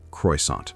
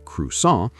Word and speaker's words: croissant: The mistake croissant. the correction, the proper French pronunciation, which is closer to crus.